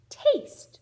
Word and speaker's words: taste: Taste. The word is taste. So normally the silent E doesn't jump over two consonants, but in this case it does.